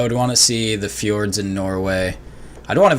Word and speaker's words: fjord: Oh, That's Like- called Fords. well, it's pronounced fjord, I think. Is it? Yeah, yeah, Fjord? because Fjord. the Yeah. J in Scandinavian languages has a Y sound.